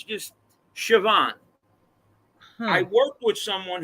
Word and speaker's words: Siobhan: It's Siobian. You know how you pronounce that? How would you pronounce the lettering I just okay, so Siobian. Sioban, right? No, it's Yeah. Siobhan. It's Uh-huh. Siobhan. Did you know that? Siobhan. No. I No, guess but it's this Irish or something, but like it's just Siobhan.